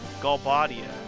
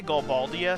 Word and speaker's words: Galbadia: it should be pronounced galbadia golf ball i just say galbaldia thinking there was another l in there but there's no second l there's only one l and it's after the it's gal and then it's